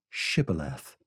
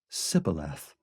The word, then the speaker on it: Shibboleth: When he said, "No," they said to him, "Then say Shibboleth." And he said, "Sibboleth," for he could not pronounce it right.